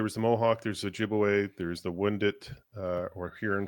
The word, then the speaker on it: Ojibwe: Is there a Ojibwe or is it Jibbajawe?